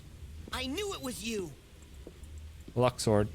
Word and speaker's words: Luxord: Luxord, not Luxord like you like to pronounce it. It's Luxord.